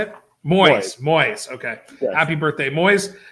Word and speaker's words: Moise: Moise? That's how you say it? Moise.